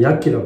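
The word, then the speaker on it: Yaqi: 처음에 스페니시 향인데, 중국에서 요즘 처음 야키라고 그러는데, 야치, 중국식 발음은 야치라고 하죠.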